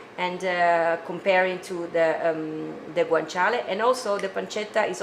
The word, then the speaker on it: guanciale: you use for this recipe is guanchale so guanchale is a kind of a meat made by a by a pig but it's made with a cheat the cheek of the pork yeah this is pronounced pronounced guanciale and it's made of the cheek of the